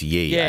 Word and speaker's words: Ye: it's here yet it's if it's y-e it's yay I'm not calling it yay because that's not how it's spelled it needs it needs